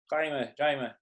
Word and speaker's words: Jaime: Jaime. Please pronounce your name in the way it's supposed to be pronounced.